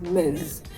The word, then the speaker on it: Ms.: For a lady m it's spelled ms. It's pronounced miz.